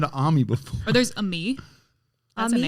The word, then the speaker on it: Aime: Or there's a me. That's Ami? a name. Mm-hmm. Like For where? AIME, but it's pronounced a me.